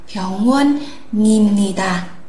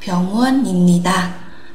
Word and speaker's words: 병원입니다: Thế thì chúng ta sẽ đọc nối cái phụ âm cuối vào đây, nối phụ âm cuối với nguyên âm thì chúng ta sẽ đọc là 병원입니다. Không phải là 입니다 mà là 병원입니다.